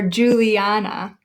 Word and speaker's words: Juliana: a little bit louder or Juliana Juliana so we have four syllables there do we say Juliana Juliana Juliana Juliana so we pronounce it emphasizing the third syllable so once you've figured